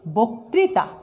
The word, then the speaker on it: বক্তৃতা: আদ্য অয়ের পরে যদি রিকার থাকে সেই অয়ের উচ্চারণ কি হবে? ও এর মতো হবে।